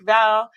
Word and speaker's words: Vale: In Spanish-speaking countries, they call me Mr. Bale because the V is pronounced with Ah, a yeah. B. Yeah, that's right. It's That's Vale. right. It's Vale.